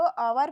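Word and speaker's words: hour: है ह हम इसको अवर पढ़ेंगे अवर हम इसको अवर पढ़ेंगे क्योंकि यहां पर एच जो शब्द है वो साइलेंट है एच शब्द क्या है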